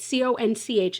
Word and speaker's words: Conch: I believe it's just Conch Republic. And that is how you say it, right? C-O-N-C-H is conch and not conch. Am I right on that?